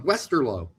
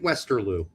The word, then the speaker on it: Westerlo: How long did we try to help Pete on Westerlo? And yet he kept calling it Westerloo.